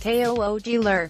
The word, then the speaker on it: Kugler: Kugler, pronounced Koogler, isn't inheriting a mystery.